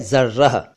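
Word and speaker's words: ज़र्रा: और एक शब्द है जर्राह, लगभग मिलता जुलता लग रहा होगा कुछ साथियों को इन दोनों का उच्चारण, लेकिन ये अलग अलग हैं।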